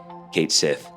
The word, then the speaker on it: Cait Sith: out and said it's it's meant to be pronounced. Um, Kate Sith.